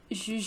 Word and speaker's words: jujube: Jujube. Wait, I have a pig. Yeah. Jujube. I don't know how you would say it in English. Like, I don't know, but in French it's jujube.